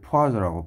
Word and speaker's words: Poiseuille: 프랑스 분이죠 그래서 뭐 발음은 사실 포즈라고 발음을 해 줘야 돼요 근데다는 외우기 위해서 포이